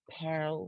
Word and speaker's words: Pearl: though the pearl dagger i'm going to try and save pearl with one syllable petal dagger also visits